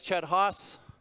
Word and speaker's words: Chet Haase: how to pronounce it you can use this common phrase if you'd like I use a hatchet when I'm cross sends exactly the same that works with me my title as I